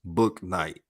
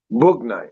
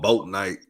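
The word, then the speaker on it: Bouknight: He said it's pronounced Book Night. Book Night.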